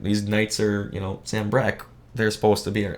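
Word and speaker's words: Sanbreque: that last episode yeah Sam Breck they say it multiple times yes I'm pretty positive that's how it says Army uh Wade has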